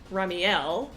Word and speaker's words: Ramielleux: Then we have Ramielleux. The accent is so that we pronounce it like Ramiel instead of Ramiel.